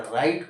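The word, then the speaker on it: write: लेकिन अब आता है डब्लू आर आईटी इसको आप क्या करते हैं राइट पढ़ते हैं अब क्या कंडीशन है यहां पर डब्लू साइलेंट नहीं हो रहा यहां साइलेंट हो रहा रीजन क्या है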